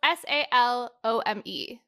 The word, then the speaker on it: Salome: probably Sadie well it's s-a-l-o-m-e oh I'm not like Salome like the name like the French name I don't know I just assumed it had to write with had to rhyme with home no I don't know